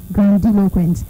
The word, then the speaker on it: grandiloquent: spells g-r-a-n-d-i-l-o-q-u-e-n-t g-r-a-n-d-i-l-o-q-u-e-n-t that's the word again it's pronounced as girl deloquence thank you so much for being a part